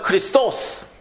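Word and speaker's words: Χριστός: 그리스도도 원래 그리스도 그 발음 완전히 틀린 거예요. 그거 가지고 따지는 사람 아무도 없어요. 헬라어로는 뭐예요? 크리스토스.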